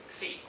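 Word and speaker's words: ξ: called the correlation length, C, or Shi, depending on your pronunciation.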